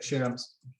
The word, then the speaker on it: Shams: hi yes i'm here am i saying your name okay yes you're saying it correctly okay shams so are you following